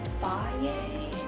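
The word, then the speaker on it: Fage: Like I usually put a lot of yogurt in it because I use Faye, that's how you say it, but I really like that one because it's super high in protein.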